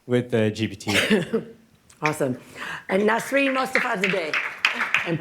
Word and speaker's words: Nasrin Mostafazadeh: And Nasrin Mostafazadeh, and please correct my pronunciation of your last name. Perfectly fine.